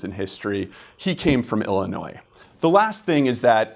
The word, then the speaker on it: Illinois: know about Illinois first even though it's spelled with an S at the end it's pronounced Illinois not Illinois's you never want to